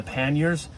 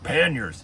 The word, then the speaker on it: pannier: And even the panniers, which is actually pronounced pannier, but all the motorcycle people, I'd ride motorcycles and they were called panniers. It's called a pannier.